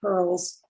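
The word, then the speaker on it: purl: Now, when we're working with precious metals, as general categories, we talk about soft pearls and hard pearls. Pearl is spelled P-U-R-L, and it simply means coiled wire.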